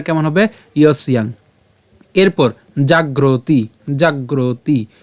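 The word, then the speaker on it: জাগর্তি: হবে কেমন তসসিয়ান এরপর জাগরতি জাগরতি কেন এইযে এখানে রেফ আছে আমরা গ এর সাথে র কে উচ্চারণ করলাম তহলে জাগর এবং তারপরে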